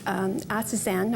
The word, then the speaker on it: astaxanthin: What is astaxanthin? I think I pronounced it right, astaxanthin. Astaxanthin, yes.